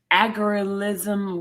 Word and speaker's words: algorithm: Right, rhythm, the word rhythm, but you just add I know how to say the rhythm, but algo is a problem. Algorithm. Algorithm, yep. And so that means that